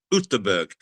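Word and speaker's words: Göteborg: Uh we were Goththingberg as Jack insisted on calling it the way the locals did, Utberg.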